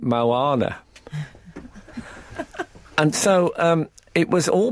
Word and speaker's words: Moana: And then I realised you actually pronounce it Moana.